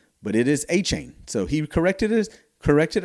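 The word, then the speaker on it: Etienne: you know, we thought his name was Travis Aten, but it is Achain. So he corrected his corrected our uh pronunciation of his name, and we've had it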